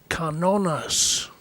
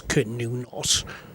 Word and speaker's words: Cernunnos: horn so I suppose technically it should be pronounced canonas but I guess most people today pronounce it as canonos and so that's what we'll go with today